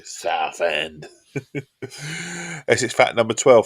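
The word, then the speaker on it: Southend: It's how I pronounce it, too. South End.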